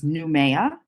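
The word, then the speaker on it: Nouméa: by France right so the first stop was newa and the second stop was Leu okay yeah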